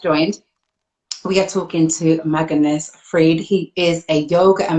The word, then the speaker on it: Magnus Fridh: joined this is a magnus freed did i pronounce your name correctly you you you pronounce it exactly correctly yes yeah it was